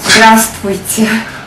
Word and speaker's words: Здравствуйте: Здравствуйте. I'm sorry, one more time? Здравствуйте. But we pronounce здравствуйте. We omit the letter V.